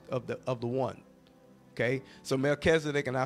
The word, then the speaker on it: Melchizedek: summarize king and priest, and we just say Melchizedek. That's a part of the high calling of God. And so all these other pieces are just kind of really components of the one. Okay, so Melchizedek, and I spell that for those of you